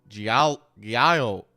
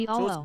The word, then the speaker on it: giallo: Do Italians do the double L as a ya sound, or is that just Spanish? Would they No. pronounce? Okay, so it's an L sound. So Giallo. it's giallo.